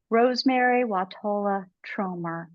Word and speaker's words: Rosemerry Wahtola Trommer: We're here today with our guest speaker, poet Rosemerry Wahtola Trommer. Did I pronounce that correctly, Rosemerry?